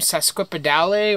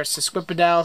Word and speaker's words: sesquipedale: This plant here is actually an Angraecum sesquipedale, or sesquipedale, however you want to pronounce it.